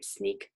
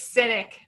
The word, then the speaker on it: Sinek: say his last name sneaked sink sneak anybody no it's cynic cynic simon Sinek thank you simon Sinek